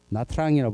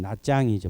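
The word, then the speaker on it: Nha Trang: 가기가 쉬워서 다낭 야짱 그죠 나트랑이라고 부르는데 원래는 나짱이죠 발음 이쪽으로도 많이 가시죠 그러고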